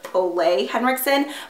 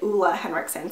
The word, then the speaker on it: Ole Henriksen: Okay, I'm not gonna lie, I've always thought it was Ole Henriksen, but both of the skincare specialists that I talked to there pronounced it Ulla Henriksen. So I'm guessing that that is the right way to say it.